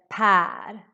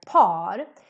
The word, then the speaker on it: Per: So here you need to really make the ä sound. Per, Per. Super important to pronounce this right and not pronounce it like par, because that means something else.